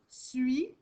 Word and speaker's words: suis: Parce que sinon, suis, on entend tous les sons. S-U-I. Donc, la seule chose que tu dois te rappeler quand tu écris je suis, c'est que ça prend un S à la fin. Un S qu'on n'entend pas, un S qui est muet.